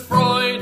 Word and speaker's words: Freud: Not Freud, not Freud, not Freud, but Freud in psychology. Looks like phonics don't work with F-R-E-U, Freud, the id and ego dude.